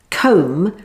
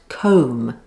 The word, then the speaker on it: comb: and by the way comb has a silent b at the end so it's pronounced comb not comb if hair